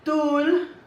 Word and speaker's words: tulle: So, and then I had to buy some tulle. Tulle, for those of you who don't like me saying tulle, but that's just the way it's pronounced.